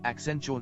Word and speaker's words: Accenture: As part of an internal name generation initiative dubbed Brandstorming, he submitted the Accenture name because it rhymed with adventure and suggested an accent on the future.